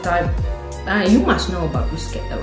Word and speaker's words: bruschetta: Oh my god, bruschetta. I always, before I lived here, I always say like bruschetta or bruschetta. Non lo so. Bruschetta. Bruschetta. Now I know.